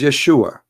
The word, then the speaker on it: Yeshua: The correct word in the Hebrew is Yeshua.